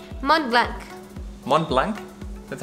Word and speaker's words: Mont Blanc: It's called Mont Blanc. Mont Blanc? That's how you say it? Mont Blanc, yes. The correct way to say it is Mont Blanc.